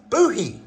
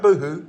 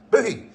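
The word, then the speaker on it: Bohea: black tea blend lightly Smoky and it is pronounced Boi not boohoo booh booh okay boy it is a distinctive black tea blend with a light Smokey Smoky flavor it was so popular in colonial times that buhi became the common word for tea during that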